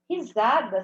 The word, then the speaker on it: risada: macaco deu uma risada risada se escreve com s tá um s no meio de duas vogais som de z tá bom pensei que